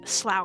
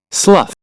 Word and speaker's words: Slough: So, they went to Slow Creek. I think that's how you say it. Slough.